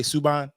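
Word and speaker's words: Subban: right we um we done with uh PK suban that's how you say his name yeah I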